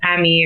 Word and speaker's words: Aimee: way but pronounces it Amy but not all you spell it no yeah it's actually apparently it's supposed to be pronounced Amy if there's an accent on I think the first e okay and so when